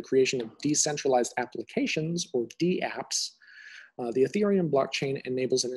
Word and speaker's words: DApps: We have this notion of decentralized applications, or DApps. So you do pronounce the D. It's similar to the word email.